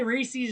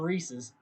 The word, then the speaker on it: Reese's: for this reese's reese's you guys say races and reeses i think the brick like the cornette the correct pronunciation is reese's oh man hard to